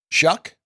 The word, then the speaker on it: Shough: So I really like him, but Shuck, that's how you pronounce it?